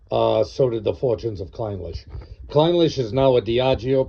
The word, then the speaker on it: Clynelish: I had a tendency to call it Clynelish when I first got it, but the proper pronunciation is Clynelish.